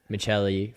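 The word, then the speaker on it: Maccelli: yeah the way that it's spelled would be macheli would be the way that it would be pronounced um but he's saying Michelli for Calder so I I looked I looked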